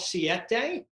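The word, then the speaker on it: Siete: there's a brand called CET day like spel spelled like the number seven in Spanish uh they make these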